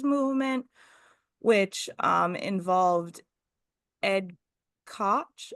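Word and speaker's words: Koch: So, there was the save the theaters movement, which um, involved Ed Cotch, how do you say his name? That's it. Ed Cotch, the mayor of New York.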